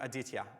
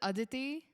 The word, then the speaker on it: Aditi: it back to Adia oh wasn't Adia yeah it was ad ad D sorry okay so now you have to I got your name wrong so you're going to have to correct me yeah my name is Aditi I'm 19 years old